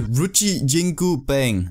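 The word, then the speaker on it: Ruyi Jingu Bang: that so he took the ri jingu bang that's exactly how you pronounce it just trust me in this one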